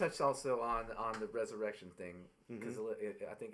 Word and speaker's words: Resurreccion: different spell right yeah but it's I just pronounced the resurrection right so quick story uh I ran to